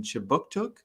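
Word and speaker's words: Kjipuktuk: But before we begin, I'd like to mention that Right Start Newcomer Services conducts business in Chibuktuk, which is how you say Halifax in the Mi'kmaq language.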